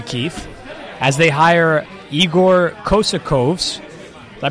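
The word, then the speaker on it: Kokoškov: Meanwhile, today, the Phoenix Suns make history, Keith, as they hire Igor Kosakovs. Did I pronounce that correct?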